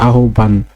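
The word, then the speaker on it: আহ্বান: ব আকার দন্তন না আহবান এভাবেও লিখি কিন্তু উচ্চারণের সময় সরে ও আকার দন্তন নয় হসন্ত আহবান অতপর অতপর শব্দটিও মোটামুটি সহজ আসে সরে তওকার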